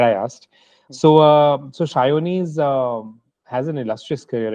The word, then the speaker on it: Sayoni: whole publishing side of things so we have sayi with us and am I saying it right am I saying it wrong well uh I'm a bong so we sure things sh it's a sh so shyi but we also assume the rest of the